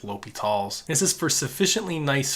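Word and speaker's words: L'Hôpital: video about l'hopital's rule that's kind of how you pronounce this l'hopital's some people kind of say like the hospital it doesn't really matter but the the correct way you're supposed to say is l'hopital's this is for sufficiently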